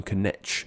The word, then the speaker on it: Knecht: The word night in English came from the German Knecht, which means servant, and this word is pronounced with no silent letters at all.